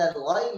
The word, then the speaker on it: غين: طيب الغين في الغالب يعني الخطأ الذي يقع فيه أن نجعله قريبا من القاف، ضاء من قل، والسبب في ذلك أن الغين قريبة من القاف، الغين من أدنى الحلق